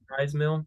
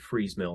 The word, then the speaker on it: Fry's Mill: pronounced it Fries Mill. I believe I was incorrect in it. I've heard a lot of people calling it Freeze Mill since then.